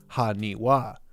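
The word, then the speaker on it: はにわ: This could be a bit of fun Japanese word play, as in Japanese 828 can be pronounced haniwa, as the number 8 can sometimes be read as ha or wa.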